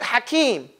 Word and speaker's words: Hakim: how do you write Hakim any way you like okay but have an eight sound in there K sound in here